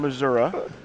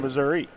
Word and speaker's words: Missouri: you come from well there are some that say I come from missoui and there and I say I come from Missouri and then there are other people that call it misery and and then there's